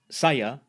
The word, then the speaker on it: saya: Saya, meaning I, is pronounced, saya, and pertama, meaning first, is pronounced.